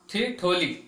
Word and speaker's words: ठिठोली: है ठिठोली चाहे बच्चों ठिठोली इसका उच्चारण क्या होगा ठीक होली इसका क्या होता है